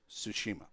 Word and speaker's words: Tsushima: The correct American pronunciation of it is Tsushima.